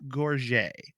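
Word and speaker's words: Gorges: is by Florence I I believe it's pronounced gorget it's g-o-r-g-e-s and it's a book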